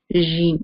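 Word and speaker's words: ج: Egypt or other countries, they say the jeem as jeem. Jeem. This is wrong. The proper way, the right way to say the jeem is jeem, not the jeem.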